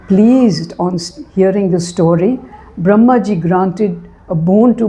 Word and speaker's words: Brahma: Brahma the uh word Brahma with an elongated a elongated a sound at the end is not the same as Brahman that is the supreme consciousness or the supreme power.